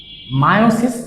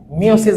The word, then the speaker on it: মায়োসিস: বিভাজন মাইটোসিসও হয় plus মায়োসিস বা মিওসিস, তোমরা যেটা ইচ্ছা বলতে পারো। তোমরা এসএসসি বই এটাকে মনে হয় মিওসিস বলা হয়, তবে এটা প্রকৃত উচ্চারণ হচ্ছে মায়োসিস হয়ে থাকে।